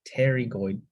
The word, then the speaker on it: pterygoid: then you have two Terry goid pterygoid the p is silent pterygoid processes and this